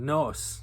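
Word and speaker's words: Gnoss: Orcadian Graham Rory is the fiddler in the band Nos, the G is silent of course, who've been making waves over the last couple of years.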